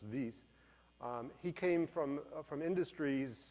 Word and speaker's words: Wyss: Hans Zurich v c Swiss so it's pronounced vs he came from from